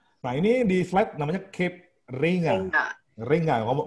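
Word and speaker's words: Cape Reinga: Nah ini di flight namanya Cape Ringa. Ringa, ngomong bacanya Ringa atau Ringa?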